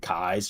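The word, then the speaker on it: Keyes: around here uh Francis Parkinson kais looks like keys but she pronounced it kais she was also from Virginia you know that's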